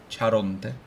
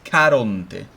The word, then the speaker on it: Caronte: Which in Italian is not Charonte. It's Caronte. Okay?